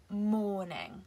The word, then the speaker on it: mourning: the first word is morning which is pronounced exactly like morning la martina i i